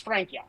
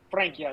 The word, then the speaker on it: Francia: I believe it's Francia. Francia is how you say it.